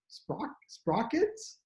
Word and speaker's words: Sprockitz: But George, who is also known as Sprockitz, I guess, is that how you Sprockitz. pronounce it?